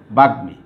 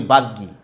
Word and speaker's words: বাগ্মী: তাইলে এটার উচ্চারণ কি হবে, বাগ্মী। কিন্তু আমরা অনেকেই উচ্চারণ করি বাগ্গী। নো, বাগ্গী উচ্চারণ করা যাবে না। যিনি বক্তব্যে পটু বলি না বাগ্গী না, বাগ্মী, যেহেতু আমার উচ্চারণের সূত্র অনুসারে আমার সেটাই বলে দিয়েছে।